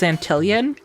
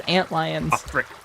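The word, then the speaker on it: antlion: Um, when Gamer and I first saw that written out in Grounded, we read it as Antilion. And then at some point, we just started saying it correctly as ant lions.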